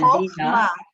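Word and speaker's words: חכמה: Chochma, and then Chochma. Bina, Chochma and Bina. and Da'at. Da'at. Thank you. You're welcome. So yeah, Chochma, so it's 2 ch, Chochma, Bina, and Da'at.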